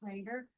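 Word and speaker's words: Roeder: shared with me by a man named Richard Raider. That was spelled R O E D R pronounced Raider.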